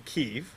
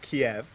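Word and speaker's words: Kyiv: over the next year as i study in keeve which i learned is not kiev but from reading her blog it's not pronounced kiev okay so you know i learned something ukraine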